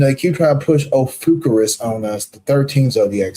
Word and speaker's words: Ophiuchus: But Ophiuchus. Yeah, that's how you say it. Ophiuchus.